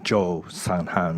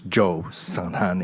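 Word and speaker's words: Kyaw San Han: I was told that in English uh it's pronounced Jo sanan but in Japanese I guess uh you write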